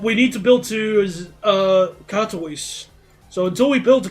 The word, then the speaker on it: Katowice: So, Krakowise. So, Katowice. Alright, there we go. Katowice. That's how you say it.